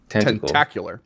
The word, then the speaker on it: tentacular: ] letters oh man tentacular funny tenticular oh nailed it yeah right because okay is it tentacle tentacle tentacular yeah like a spectacle or a spectacular that's